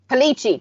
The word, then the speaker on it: Pagliacci: It's like Pagliacci. I don't know. Do you know how to pronounce it? So I don't butcher this and everyone hates me. I don't know. I'd have to Palici. Palici.